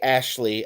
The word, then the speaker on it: Ashley: And when you say Ashley aloud, the emphasis is on the first syllable. So I might represent the syllables of Ashley like this, Ashley.